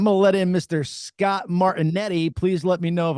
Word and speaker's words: Martinetti: yeah, I should get a phonetic dictionary, but you never know what names people pronounce them a little It's like wacky. Martinetti, fucking Italian.